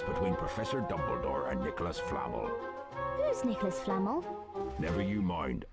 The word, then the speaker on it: Flamel: gathered information about nicholas flemetal she says his name wrong that nicholas flammel the wizard that hagrid